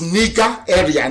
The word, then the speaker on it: Nigeria: sounds a bit okay the proper name is nika area nigeria if you go